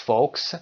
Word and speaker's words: folks: 5 minutes folks. کلمه folks دقت داشته باشید L تلفظ نمیشه.